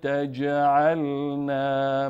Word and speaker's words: تجعلنا: تجعلنا قالوا ربنا لا تجعل نا مع القوم الظالمین قال ربنا اینجا ب مشدد هست دو ب تلفظ میشه اینجا جیم ساکن هست از جمله حروف قطب و جدن پس قلقله میکنیم تجعلنا نمی‌خوانیم تجعلنا تجعلنا ربنا